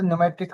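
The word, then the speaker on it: pneumatic: P silent होता है। न्यूमेट्रिक होता है।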